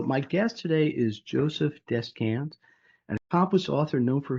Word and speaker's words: Descans: Joseph Descans, hope I'm saying it right. How are you? I'm doing good. Yes, you did pronounce it properly, the way I say it, All at right, least.